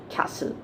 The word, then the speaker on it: castle: it in hindi all right so the correct pronunciation is castle okay now the next word which is there